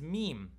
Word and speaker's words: meem: The name of the letter is meem. Me, me. It's about me. And it's pronounced ma, ma, ma. Let your lips touch together, hum a little bit.